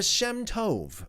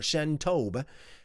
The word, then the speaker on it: Shem Tov: the Shem Tov, or Shem Tob. It's spelt as Shemtov or Shemtob. It can be both ways, Tov or Tob. I'm going to refer to it as Tov for the most part.